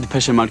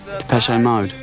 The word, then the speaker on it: Depeche Mode: Depeche Mode. And we just decided we liked the sound of that name. And we chopped off the accent and we just kept the pronunciation.